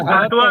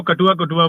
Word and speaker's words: काटवा: जैसे एक यहाँ काटवा है, राजस्थान के होते हैं। जी, यहाँ पर एक काटवा बोल के एक जगह है, बहुत लोग उसको कटुआ बोलते हैं, तो प्रोनाउंसिएशन का इशू है सर।